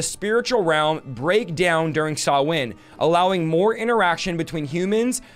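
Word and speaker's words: Samhain: Channel they say um by the way the pronunciation of this it looks like Sam Hayne but it saw win so this is how Halloween started sawwin is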